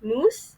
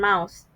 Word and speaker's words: moose: two words, which is moose and mouse. Moose is the real word that he was trying to say, and mouse is uh, the wrong word, uh, the wrong pronunciation that he has made.